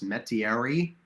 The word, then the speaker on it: Metairie: met I never know how to say this Metairie Louisiana m-e-t-a-i-r-i-e she's straight out of an Anne